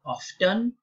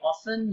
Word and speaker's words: often: arrived you could say often you could also pronounce the D and say often the T is not silent there okay it's not the